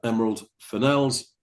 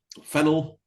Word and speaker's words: Fennell: Uh, emerald finels, fennel, whichever way you like to pronounce it. Emerald Finel maybe. Finel sounds French and it does, doesn't it?